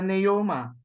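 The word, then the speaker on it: πνεῦμα: to hear it Puma the others would you would would simply ignore the P it just becomes a Naoma but I think we should we should stick we should still put a small p in the sound puma and patology so that's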